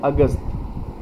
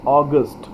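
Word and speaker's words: August: कई बार इसे लोग प्रोनाउंस करते हैं अगस्त। अगस्त ना प्रोनाउंस करके आपको प्रोनाउंस करना है ऑगस्ट, ऑगस्ट। So this is the right pronunciation, ऑगस्ट।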